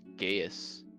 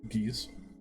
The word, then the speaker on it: Gaius: Also attempt to do something with Gaius. Gaius? How do you pronounce that word? Geese. Gaius? Mm-hmm. At least that's how I've always heard it.